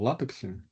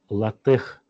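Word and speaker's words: LaTeX: ходят девушки Извините просто ну как пишется так и читаю а он пишется и читается именно как латех потому что если вы прочтёте А кто тех придумал кстати Ну это с греческого вроде там латех это да да Это с греческого от слова Техно технология А я думал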